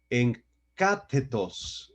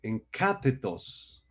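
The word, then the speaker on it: ἐγκάθετος: es la palabra griega en catetos en catetos Sí con acento en la a y describe a una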